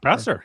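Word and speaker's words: Boeser: Brock Besser, yeah.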